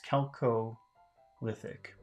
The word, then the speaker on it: chalcolithic: Neolithic and chalcolithic periods chalcolithic number one I'm wondering if I'm pronouncing that right but number two what is it chelco lithic oh and well according to the pronunciation it's celco lithic of are relating to